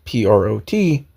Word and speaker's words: Prot: The movie's name is K-Pax, and his name is spelled P-R-O-T.